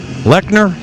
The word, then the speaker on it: Lechner: what she pulled oh it's pronounced like nerd Lechner told you we shouldn't